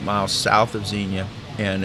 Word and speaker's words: Xenia: Just south of Xenia, Ohio, that's spelled with an X, X-E-N-I-A, there is a great state park there.